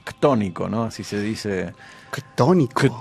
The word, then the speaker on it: ctónico: Ctónico. Ctónico, así se escribe C-T-O, ¿no?